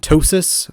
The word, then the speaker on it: TOSAS: you can call it ptosis for short if you'd like it rhymes with gnosis kind of like that